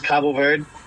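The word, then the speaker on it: Cabo Verde: it I usually use Cabo verd uh it's it's the Portuguese way of saying it some people say cop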